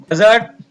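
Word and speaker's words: budget: और हमने इस वीडियो में देखा कि कुछ शब्दों में डी के तुरंत बाद अगर जी आता है तो हम डी का उच्चारण नहीं करते हैं।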